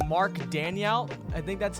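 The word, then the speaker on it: Daigneault: Mark Daniel. I think that's how you pronounce his name?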